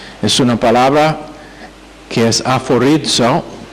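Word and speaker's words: ἀφορίζω: Es una palabra que es aforizo, A-P-H, que se pronuncia F, como el F, A-P-H-O-R-I-Z-O, aforizo.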